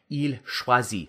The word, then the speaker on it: choisit: Il choisit. Okay, same sound. Drop that drop that R, but add a T, not an S. Okay, same pronunciation.